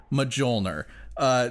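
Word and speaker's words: Mjölnir: __ ] Thor's hammer medjool nur that's how you say it medjool nur she manifests something that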